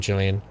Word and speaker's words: Gillian: like Jillian Anderson um I don't know how you guys pronounce it Gillian Jillian I say Jillian that's right isn't it Jillian I think so I think so is it about